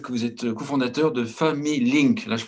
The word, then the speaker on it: Familink: Alexis Le Goff, je rappelle que vous êtes cofondateur de Family Link. Là, je prononce Oui, correctement.